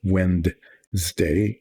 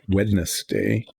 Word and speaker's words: Wednesday: No, it's not Wednesday. It's Wednesday. I will keep saying that over and over, that it is never, hardly ever said correctly, because it's very hard to say it the way it's spelled.